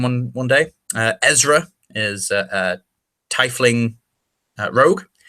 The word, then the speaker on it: tiefling: Ezra is titling rogue yes I pronounce it titling not tickling there's a TIE fighter his tie you tie a knot titling see I know everyone calls it tiefling I know that it might officially be termed tiefling I also know that